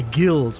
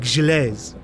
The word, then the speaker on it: Gilles: I just want to say gills, but it's like gilets.